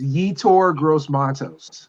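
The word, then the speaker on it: Yetur Gross-Matos: It's Yetur Gross Matos.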